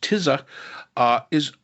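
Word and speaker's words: Tisza: The other interesting thing is that this party, and it's TISA, I believe it is pronounced TISA, was only founded in 2020.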